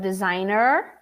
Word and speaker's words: designer: this down all right first of all it's not designed or designer d it's in the middle d repeat with me designer design close the end designer designer emphasize the er remember the same problem